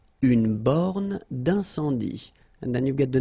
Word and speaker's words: borne d'incendie: Une borne d'incendie. Okay, final here not pronounced, final here not pronounced. Une borne d'incendie. And then you get the nasal. Un, en, incendie. Une borne d'incendie.